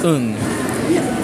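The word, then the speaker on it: うん: I pronounce it it's un it's uh it's not a prolonged un it's un that's also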